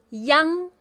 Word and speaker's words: iang: 很好。IANG is pronounced as yang.